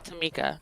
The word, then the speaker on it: Tomi: Uh, so my first name is actually Tama. Okay. Um, but the way it's spelled it starts off T O M I.